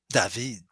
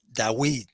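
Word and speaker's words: דָּוִד: So how do you pronounce David in Hebrew? David. And if it's older, probably we have no recordings of the time of Moses. Would be cool, huh? But perhaps they used to pronounce Dawid. Yeah, Dawid. Yeah. But we cannot really know. But we pronounce like David for many reasons in modern Hebrew.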